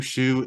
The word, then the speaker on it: Schu: Shu is spelled SCHU.